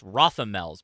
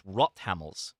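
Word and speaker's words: Rothammel: Everybody we we in America thinks it's Rothl's, but no, it's Rottamls is the uh pronunci I'm told.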